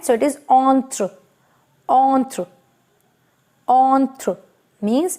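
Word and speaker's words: entre: right and silent is e is silent at the end so it is on through on through on through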